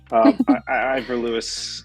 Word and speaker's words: Ivor Lewis: No, that's correct. Ivor Lewis is a pronunciation. I think you did a good job.